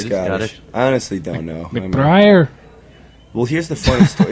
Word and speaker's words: McBriar: Please pronounce it. McBriar. That's a very what is sounds Scottish. Yeah, I think it's Scottish. I honestly don't know. McBriar.